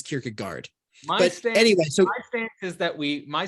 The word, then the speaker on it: Kierkegaard: they're anti-elitis inherently and so I don't say kierkega gourd or kierkegor I say Kierkegaard you know but people say it's Gore it's like okay well